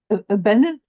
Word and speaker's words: Abenaki: We can review it and, Right, and it's not, and they're all Abenaki? Abenaki? Well, I know, we call it. I want to say Abenaki. both pronunciations are correct.